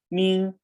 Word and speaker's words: 名: In, E-N-G, pronounce in, the same pronunciation as English, right? In, Ming, Ming, going up, Ming.